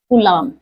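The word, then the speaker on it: कूलॉम: कलाम। B silent रहता है।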